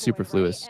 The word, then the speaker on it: superfluous: You're saying it wrong. To It's superfluous.